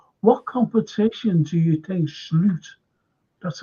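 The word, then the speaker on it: Slot: Madrid coming up, what competition do you think Sloot, that's how you pronounce his name, by the way, Sloot will rotate and rest for?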